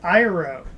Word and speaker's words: Iroh: they have like just they can't pronounce anything right it's IRA isn't that I know